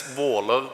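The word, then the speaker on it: Våler: First of all, I want to explain the Norwegian letter Å, which is two A's, and it's pronounced Å. So then it's Valer Church.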